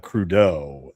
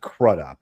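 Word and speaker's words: Crudup: And forgive me, but uh Billy Crudeau, that's how you pronounce his last name. I know. I I used to pronounce it crud up.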